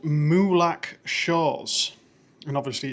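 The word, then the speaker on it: Molack: Uh, it's called Muak Shores and obviously it's near Muak Beach. Muak is spelled M O L A C K.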